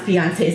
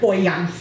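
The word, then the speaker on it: Beyoncé: says Dad can't pronounce Beyonce's name no matter how hard he tries he calls her boyans like Hawaii it's Beyonce I correct him boys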